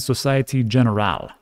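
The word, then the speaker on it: Société Générale: So on top of that, their issuance will be managed by giants such as Goldman Sachs, Santander Group, and Societe Generale.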